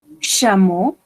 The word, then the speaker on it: chameau: On a le chameau. On prononce 3 lettres ici comme une O. Chameau.